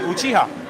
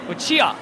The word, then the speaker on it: Uchiha: How do you pronounce it? It's exactly how you're doing. Uchiha. Uchiha.